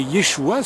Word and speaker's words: Yeshua: Mais Yeshua, c'est le nom de Jésus en hébreu, et c'est comme ça qu'on le prononce.